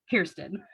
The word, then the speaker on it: Kirsten: friends ever writes back kirsten p.s my name is pronounced like kirsten dunst i put it in